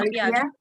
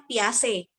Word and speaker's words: Piaget: Nah, teori belajar ini diantaranya ada teori Piaget yang oleh Jan Piaget. Ya. Bacanya Piaget.